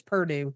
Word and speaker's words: Purdue: You say it like it's Burgoo, but it's Purdue? Yes, I am. It's Purdue.